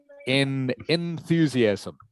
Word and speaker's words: enthusiasm: Enthusiasm is how you pronounce it. Enthusiasm. Good. And you'll notice this word, by the way, is one of these ones where the E gets shortened to an I sound, as in the word it.